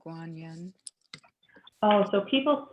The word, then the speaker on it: Guanyin: will um with her voice help us invoke guanyin and you're welcome to chant along if you